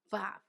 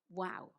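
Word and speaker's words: ו: The third letter is Vav. In the old days, this letter was read as Wow. So Vav and Wow, the same letter.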